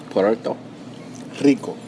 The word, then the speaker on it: Puerto Rico: it right no how I say it Puerto Puerto Rico Rico there you go Porto Rico I think